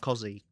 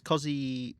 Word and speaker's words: Cos: I mean, this whole time, it turns out Cos is actually Cozzy. And we're all saying it wrong. It's Cozzy said so.